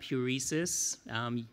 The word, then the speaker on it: Heuresis: 2.5 years ago, I founded my startup, Heuresis. You pronounced it correctly.